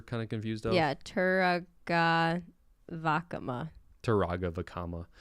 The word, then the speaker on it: Turaga Vakama: Yeah, Turaga Vakama. Taraga Vakama. I guess in general, you always put the emphasis on the second to last syllable.